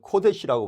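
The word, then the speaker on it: קודש: 그래서 우리가 잘 아는 가데스 바네아라는 것 때 카데시 혹은 여기서 거룩이라는 걸 코데시라고 부르는데요. 크 발음이 여기서 나오게 됩니다.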